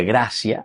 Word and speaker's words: gratia: En latín graia se pronuncia gracia.